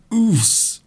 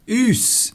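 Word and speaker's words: Oss: It's Oos. Oos. I think I pronounced that correctly. It's you have to. It's almost as if you're trying to push something out of your body.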